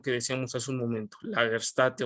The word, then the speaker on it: Lagerstätte: decíamos hace un momento lager State o lager stote como me decían que se pronuncia Entonces qué es eso